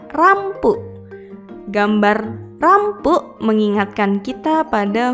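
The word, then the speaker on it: ランプ: Berikutnya adalah gambar lampu atau dalam bahasa Inggris adalah lamp. Dalam pelafalan bahasa Jepang adalah rampu.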